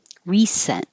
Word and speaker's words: recent: like a z resent the adjective recent the c sounds like an s recent bear historic historic naked